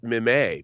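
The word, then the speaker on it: Mimieux: I mean, I learned how to say Yvette Mimay because she stars in that movie and her last name has an X in it.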